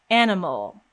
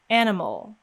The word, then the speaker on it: animal: vowel sounds in fact if you think about the word animal in american english you see the letter a twice but each time it's pronounced completely differently so the first a we see is pronounced as a and the second a that we see is not pronounced at all animal mole mole animal